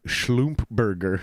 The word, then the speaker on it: Schlumberger: full name is uh it's technically pronounced schlump burger yeah schlumberger but they pronounce it